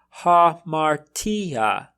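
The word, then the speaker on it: ἁμαρτία: for example we have ha martija martia note that i'm pronouncing that first alpha as ha not ah our second example is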